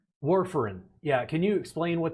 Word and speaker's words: warfarin: quickly was is it where foreign am i pronouncing that correctly warfarin yeah can you explain what that is very